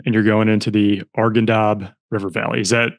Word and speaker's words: Arghandab: So this is you new unit, um, and you're going into the Argendab river valley. Is that how you pronounce it?